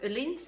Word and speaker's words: Öhlins: Despite we have Öhlins, or Öhlins as the Swedish name is correctly pronounced, on board, and they